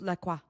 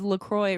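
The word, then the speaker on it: LaCroix: You know, I know he's he says Laqua. Does he want brand guidelines that they sent me? Because it literally says Lacroy rhymes with Joy.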